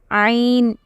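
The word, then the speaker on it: ع: What is the articulation point? It is the middle throat. Okay, so you have to practice this letter as well. Ain. It is not simply ain. It is ain.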